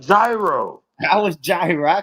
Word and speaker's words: gyro: I said is it gyro or euro? They said it's euro.